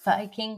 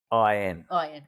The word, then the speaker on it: Fakin: out the front said "Faking good wine." Faking good wine. Now we've cleaned that up because that's not how they pronounce it. That's not how they pronounce it. They pronounce it like it's Fukin.